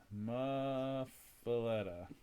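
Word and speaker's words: muffuletta: Muffaletta.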